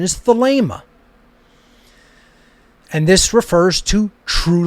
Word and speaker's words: Thelema: alpha gamma alpha pi eta how do you pronounce agape you don't say agapi you wouldn't say thalima it's the lemur the ada is a long